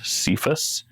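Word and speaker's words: Cephas: recorded in English Bibles in a way that convinces people to pronounce it sephus it's c p h- s through the Greek and Latin okay yeah yeah I've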